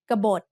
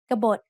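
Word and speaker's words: กบฏ: kabot which means Rebel gabot has two syllables just like the word can which we have learned in lesson 14 there is an Unwritten s after the first consonant and there is an Unwritten s o between B and to both syllables have middle class initial consonants and both syllables have de endings so they are both low tone now it's time for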